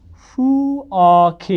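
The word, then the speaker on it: 부엌에: ए छ त्यहाँ है यस्तो अवस्थामा यो खलाई तपाईँले पछाडिको एसँग जोडेर पूर्ण उच्चारण गर्ने अथवा वास्तविक उच्चारण गर्ने वास्तविक भन्नुको मतलब यो ख छ भने खलाई ख नै भन्ने कि है अब यो ख एसँग जोडियो भने के हुन्छ त यहाँ के हुन्छ कि कुरो बुझ्नु पनि अब उच्चारण के हुने भयो फु अ खे यही भने अब नि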